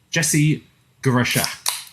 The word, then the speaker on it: Jesse Guarascia: And that is, friend of the show, Jesse Guarascia. Did I pronounce that correctly? You got it great.